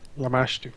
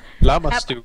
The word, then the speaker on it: Lamashtu: Lamashtu. Lamastu. Lamastu is my pronunciation.